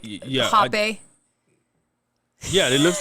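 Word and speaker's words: rapé: Technically, it's pronounced hape, but it's spelled rape in Brazil because the H and the R's are switched. So they say the R's with H, so it's like hape.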